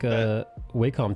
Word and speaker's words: Wacom: And the people that make Wacom tablets say it should be pronounced Wacom. Whack-a-mole? Yeah. Bonk. But I pronounce it Wakem because it sounds better.